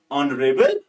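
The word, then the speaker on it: honorable: अब देखो शी is dash ऑनरेबल person. अब देखो बेटा यहां पे एच साइलेंट रह रहा है।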